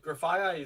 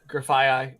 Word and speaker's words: Grafaiai: Oh yeah, you could do that, but Grafaiai is like if you get two of them on your bench, you have two coin flips to poison.